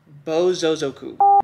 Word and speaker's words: Bōsōzoku: Bōsōzoku.